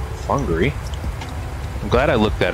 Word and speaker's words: Whangarei: to be confused confused with Winery it's actually pronounced Hungary I'm glad I looked that up because to